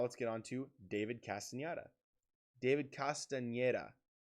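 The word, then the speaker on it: Castañeda: And now let's get on to David Castaneda. David Castaneda. Castaneda. I think that's how you say it.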